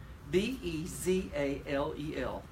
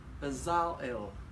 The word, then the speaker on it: Bezalel: Bezalel. Bezalel. The accent is on the second syllable.